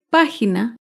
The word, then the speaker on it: página: de una palabra esdrújula es página página se acentúa en la antepenúltima sílaba página recuerda todas las palabras